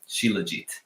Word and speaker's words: shilajit: on the planet yeah this is siligy shilajit yep spell that again